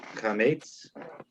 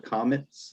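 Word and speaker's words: קמץ: It's called a chametz, or you can call it a comets if it's hard for you to pronounce. It's a chametz.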